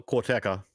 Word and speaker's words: Karateka: Is it Karateka? How do you pronounce that, Sean? Well, Corteca.